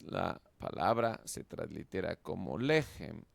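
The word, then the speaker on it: לֶחֶם: Por lo tanto, sabemos que es una sílaba breve y cerrada. La transliteramos como gem. Juntas, la palabra se translitera como lejem o lejem, lo que es pan.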